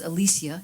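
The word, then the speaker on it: Alycia: but her name is spelled really interesting like a ly si a Alicia and she was a we she called Alicia is how she pronounces it could be Alicia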